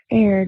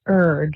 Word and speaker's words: erred: I had an evidence professor who just beat it into our brains that it's not aired, it's erred, like burr. And I hate to say it that way, but that's the correct way to say it.